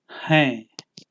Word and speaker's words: हैं: Hain is how we say are in Hindi, and the last N in hain is pronounced nasally and carries a slight N sound to it, just like the word for am, that is whom.